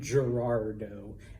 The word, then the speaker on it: Gerardo: okay what would it be in espanol though Gerardo Gerardo all right so that Gerardo all right now like I said some people pronounce it and it's really hard for me